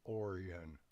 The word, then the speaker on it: Orion: the report stated okay the actual pronunciation is is Oran high school but for AI